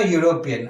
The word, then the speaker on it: European: article is that correct same thing for european i get the sound of yo right subscribe yes sir so then we get y yo so the first